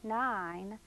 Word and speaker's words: nine: need to know that the e at the end of the word 9 is silent and the child can